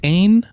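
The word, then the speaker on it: AYN: It is the Ain, spelled A-Y-N, Odin, spelled like the god, 2, like the one that comes after 1 and before 3.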